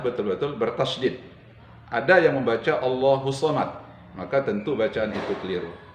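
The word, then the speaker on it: اللَّهُ الصَّمَدُ: Tadi ada bacaan Allahus Samad. Di sana ada tasydid. Harus sesuai bacaan kita, harus benar bacaan kita. Allahus Samad. Jadi huruf sadnya betul-betul bertasydid. Ada yang membaca Allahus Samad, maka tentu bacaan itu keliru, meskipun tidak membatalkan solatnya.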